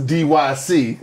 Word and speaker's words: DYC: way overseas for this one uh this is dyc all right in case you was wondering that is how it's pronounced if it ain't that's how we pronounce